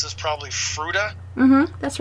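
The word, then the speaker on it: Fruita: I'm going to mispronounce this, probably Fruta.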